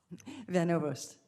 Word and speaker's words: Van Ovost: General Van Ovost, is that how you say it? Van Ovost. Okay, I'm sorry, we don't pronounce that often, from Oklahoma.